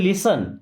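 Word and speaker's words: listen: Okay, लिसन टू मी, इसे हम क्या पढ़ते हैं, लिसन, यहाँ पे टी साइलेंट है, लिसन, लिसन मीन्स होता है सुनो, टू मी मुझे या मेरी बात।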